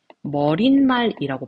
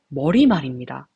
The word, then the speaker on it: 머리말: 여러분들 수업할 때 만약에 선생님이 여러분들 머리 더하기 말 읽어보세요 라고 하면은 거의 대부분의 선생님들이 머릿말이라고 발음을 하실 겁니다. 그런데 머릿말의 표준 발음은 머리말입니다.